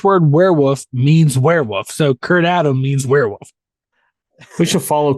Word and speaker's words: kurtadam: here let's see oh it's pronounced kurtadam not Kurt Adam could not